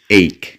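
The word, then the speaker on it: ache: যদিও আমরা অনেকেই এক বলে থাকি, কিন্তু এর সঠিক উচ্চারণ হচ্ছে এইক।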